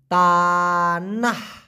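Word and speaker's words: tanah: টি এন এ হেইচ উচ্চারণটা হবে তানা এটার মানে হলো শুধুমাত্র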